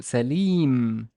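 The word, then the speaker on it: سليم: So it's a very common male name that is sa with a fatha. The lam has no vowel, but we know that it's kasra because it's followed with a ya. So Salim, Salim, Salim.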